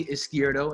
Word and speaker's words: Izquierdo: face yeah yeah yes I'm is Scioto is how you would pronounce my name yeah changed the handle